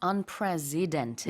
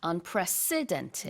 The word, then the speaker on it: unprecedented: And you have to stress the s sound in the middle. Yes. It's not unprecedented, Yes. but unprecedented.